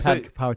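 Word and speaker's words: pad kaprao: do you pronounce it I think there supposed to pad kapow chicken yeah pad kapow okay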